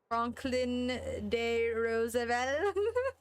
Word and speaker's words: Franklin D. Roosevelt: Roosevelt Avenue and the subway pronounced it Franklin de Roosevelt.